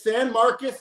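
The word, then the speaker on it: San Marcos: It's It's San Marcus Texas. Looks like Marcos, but it's it's just outside Austin. So, you would find Austin.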